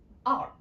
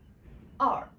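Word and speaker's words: 二: And with a R sound in the end, which means we need to twist our tongue a little bit in the end. So we pronounce as R. R.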